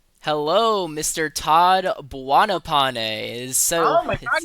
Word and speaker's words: Buonopane: Todd Buanopane. So, oh my god, you're saying it right. Yeah, I I for the longest time I thought it was buoane, but then I saw